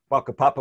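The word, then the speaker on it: whakapapa: maori concept of papa spelt with the wh they're pronounced with an f baka papa which is the maori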